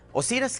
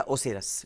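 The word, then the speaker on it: Osiris: اوسیرس کی اصل بنیاد، یا اوسیرس، یہ دونوں تلفظ آتے ہیں، اوسیرس یا اوسیرس.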